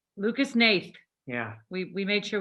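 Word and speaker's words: Hnath: image and that guy's name i swear is pronounced nath lucas nath yeah we we made sure we looked into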